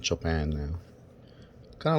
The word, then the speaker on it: Chopin: According to some people, it was named after that composer Chopin, the classical guy, I guess. I don't know. Yeah, so it's not chopping or chop in, it's Chopin.